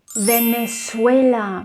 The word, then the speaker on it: Venezuela: and the last one venezuela venezuela not venezuela venezuela so the letter z needs to be pronounced as s let me